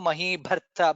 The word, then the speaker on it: महीभर्ता: Mahi Bharta, Maheshwaso Mahi Bharta. Bha is Mahaprana there.